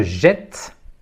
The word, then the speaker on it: jette: s'écrit avec un T je jette s'écrit avec de T je ne prononce pas le E final mais je dois ouvrir le E avant la double consonne t jette jette voilà dans une